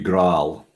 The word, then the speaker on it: GraalVM: If it was in Dutch, it would be Graal.